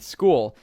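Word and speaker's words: Skool: Now, as for the actual websites to find these products on, I recommend taking a look at a website called School. It's spelled S K O L.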